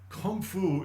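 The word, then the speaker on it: 功夫: You've heard the word Gong Fu, Kung Fu. Kung Fu is the Cantonese pronunciation of the Mandarin Gong Fu.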